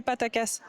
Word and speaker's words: Pataca: It would be good if I finish exchanging all my Patacas. Paracasse? Patacasse? I don't even remember how to say it. Pataca.